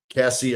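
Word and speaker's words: Caissie: Owen Cassie, I believe is how they pronounce his last name.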